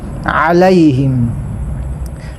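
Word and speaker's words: عليهم: Kaya kapag sinabi mong siratal ladhina an'amta alayhim, kapag sabihin mo na alayhim ay ang ginamit mo ay hamza. Kaya kailangan praktisan mo ang ain na ito para mabigkas mo ng alayhim.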